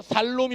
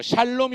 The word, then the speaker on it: 샬롬: 따라합시다 샬롬이 오셨네 어 발음 잘해야 돼요 살롬이 오셨네 하지 말고 샬롬이 오셨네 야 됩니다 한번 더 샬롬이 오셨네